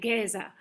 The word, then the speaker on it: Géza: I'm not saying it with a Hungarian accent, but the Finns say Géza. Yeah. Okay, Géza.